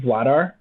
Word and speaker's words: Vladar: Vladar.